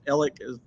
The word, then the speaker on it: Alex: what Chickasha Oklahoma yeah I'm originally from Alex or ellic if you're from there you call it ellic um it's spelled Alex though which is about 15-20